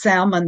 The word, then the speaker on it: salmon: Um, all kinds of ways to fix salmon that work out well. Now, you say salmon. You actually pronounce the L. I thought we're Salmon, not supposed to.